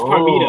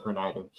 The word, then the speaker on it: Parmita: random fake shock, Oh, her like, name is Parmita. oh, Her name is Par- Parmita. Parmita, Parmita, Yeah. Parmita. Yeah, I was close. I said Pernida.